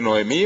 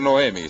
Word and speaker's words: Noemí: Noemi se puede decir Noemí o se puede decir Noemi Según como ustedes las mujeres que tienen el nombre ellas deciden Cómo se pronuncia no y Rut la moabita